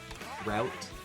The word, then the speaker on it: route: Apparently root is more of the Canadian way of saying it. And then route is American.